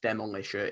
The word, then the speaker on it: Demolisher: Demolisher, or Demolisher. It's pronounced Demolisher in the song.